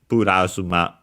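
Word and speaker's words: プラズマ: Uh and then of course in addition we have uh the L in English that becomes Japanese R because yeah uh L doesn't exist uh in Japanese.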